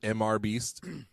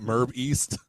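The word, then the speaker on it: MrBeast: person it's not just mr beast it's not it's not merb east merb east yeah so last uh towards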